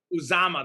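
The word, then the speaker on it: Uzomah: I probably going to mispronounce his name, so I won't bother. But Joe Mixon in the backfield. CJ Uzama? Uzama, that's it. Uzama.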